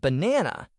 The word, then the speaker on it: banana: For example, in the word banana, the stress is on the second part, be, de, na.